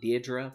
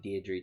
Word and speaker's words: Deirdre: okay all right so we have Deidre some people pronounce it Deidra but I'm not gonna do that I'm sorry uh it's always going to be Deirdre to me and then we've got